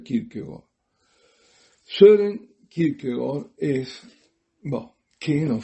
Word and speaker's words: Kierkegaard: Tengo que hacer un pequeño desvío, un excursus, para decir quién es Kierkegaard, que lo verán escrito como Kierkegaard, Kierkegaard, con K las 2 veces, pero se pronuncia Kierkegaard.